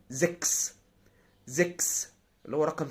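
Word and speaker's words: sechs: طيب، تالت حاله اللي تسيها لو جه وراها اس تنطق قائس. اللي تسيها لو جه وراها اس تنطق قائس، زي زكس.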